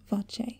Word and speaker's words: voce: ends with closure and the italian vachae pronounced voce with its two open vowel sounds the vowel sound ah